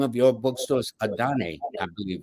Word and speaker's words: Adanne: Adane, I believe, right? Yes, you said it perfectly. It is pronounced Adane, and we are located in Brooklyn, the Dumbo part of Brooklyn at 234 Water Street.